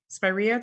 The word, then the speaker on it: spiraea: and I'm sorry any tips for pruning spiraea spiraea did I say it right that's perfect okay